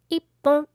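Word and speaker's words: 一本: hon / pon / bon Only 3 to say "bon" 1/6/8/10 to say "pon" Words in front of "pon" will not be pronounced It's pronounced "Ippon" instead of "Itipon", so be careful The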